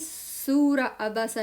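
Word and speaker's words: سورة عبس: सूरतु नबा 79 सूरतु नाज़ियात सूरतु नाज़ियात सूरतु नाज़ियात सूरतुन नाज़ियात सूरतु नाज़ियात 80 सूर अबसा नो अलिफ लाम हियर ए वेल इधर लाम भी नहीं अलिफ भी नहीं है सूर अबसा आ बसा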